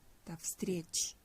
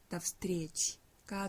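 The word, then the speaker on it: до встречи: 다 스트리스트리 여기 지금 나오니까 그 도도 원래 도라고 적혀 있었는데 다가 됐죠. 어, 전치사 같은 경우에는 강세가 없다고 보기 때문에 요도 강세가 없으니까 아로 발음합니다. 그래서 전체적인 발음은 납스트리치 납스트리지가 되겠습니다.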